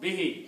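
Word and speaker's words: بِهِ: There is no hamza. So this will be read short. Okay. Bihi. Thank you. Yeah. And there's no stop, so. Stop is not there, but you pronounce bihi short.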